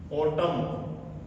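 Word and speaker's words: autumn: अब देखिए इसी शब्द में मैंने कहा कि शब्द के अंत में एन लास्ट में आए उससे पहले एम आए तो ये एन हमारा क्या रहेगा? साइलेंट रहेगा। इसको क्या बोला जाएगा? इसको बोला जाएगा बॉटम।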